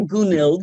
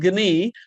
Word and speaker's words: Gunild: Looks like Gounild, but it's pronounced Gi.